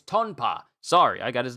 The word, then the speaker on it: Tonpa: Ah, it's not Tapa. It's Tonpa.